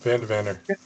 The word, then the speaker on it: Vander: Is it Vander? How do you say your last name, Philip? That's right. Yep. Vander. I've never said your last name before.